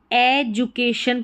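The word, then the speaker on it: education: यहाँ पर डी को हम ज प्रोनाउंस कर रहे हैं, एजुकेशन, डी के बाद में यू आया है।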